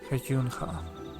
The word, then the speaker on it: Cenote Hajunja: The way they pronounce the J letter in here is ever so slightly inconsistent. Because at least in Spanish and Mayan languages, it will be pronounced ha. It will always be pronounced like that. Sounds very consistent. But I notice every now and then they pronounce it more like a Y.